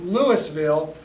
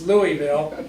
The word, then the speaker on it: Louisville: namesake of Louisville Kentucky however you say his name is how you pronounce our name I know there's a lot of different ways of saying Louisville but it's not Lewisville it's Louisville and it's based on